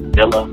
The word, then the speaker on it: Villa: Now, listen, on the website, folks, it's not V-I-A, it's V-I-L-L-A, so you got to go Natalie Villa. Now, I know some of you might pronounce that Villa like I do because I'm just a weirdo. But anyway, it's Natalie Villa.